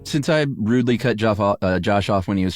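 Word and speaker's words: Geof: Yeah, I but you have to say it like Joff. If you're gonna go to the trouble of spelling Jeff like Joff, you should say Joff.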